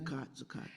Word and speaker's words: zakat: Am I pronouncing that correctly? Yeah, zakat.